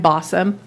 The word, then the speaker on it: Balsam: My name's Bossum, rhymes with awesome, so that way you'll remember me and what I said.